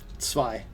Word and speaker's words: Zwei: Can you do the authentic pronunciation of Zwei? Zwei.